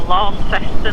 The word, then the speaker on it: Launceston: So we discovered, Mum and I, when we were in Tasmania at the Cataract Gorge, well, in Launceston or Launceston as people pronounce it, that the Aboriginal, if you pull out the fronds and you suck on them, you get this lemonade-y taste.